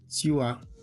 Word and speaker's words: tu as: Then we have the second one, tu as, it's not tu, tu as, there's a y somewhere there, a subtle y somewhere there, something like tu as.